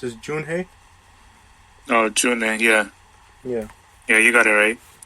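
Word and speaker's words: Junhoe: If I remember correctly, I think the way I saw it's supposed to be pronounced is Junhei.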